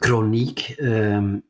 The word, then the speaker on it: Crooniek: it sounds more smooth so it's chronic pronounced in in Dutch but it's also uh